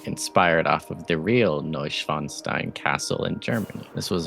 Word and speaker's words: Neuschwanstein: Do we finally show off Neuschwanstein? And should we Google how to properly pronounce the name of this place? I've just been taking how you said it at face value, damn. Neuschwanstein.